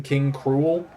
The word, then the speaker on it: K. Rool: King K. Rool is spelled the exact same way in Japanese, but they just call him King Cruel. Which I'm like, I get it, but that's the point of the pun. Like, you just said the pun instead of letting it be a pun. I don't know. But he's one of them. It's spelled the same way, but it's King Cruel.